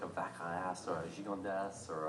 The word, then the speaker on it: Gigondas: There's such amazing values from there, like a Vacras or a Gigondas or a. You actually pronounce the S.